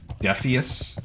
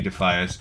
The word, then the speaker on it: Defias: as the Defias Brotherhood, I just felt like phonetically it seemed to be spelled defus and I always called it Defus. Um, and then I had a lot of people like, "No, it should be Defias."